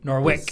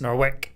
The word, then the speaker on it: Norwich: which Ipswich nor witch Norwich the W Norwich silence Norwick Norwich Norwich Norwich Norwich silent the the WSL nor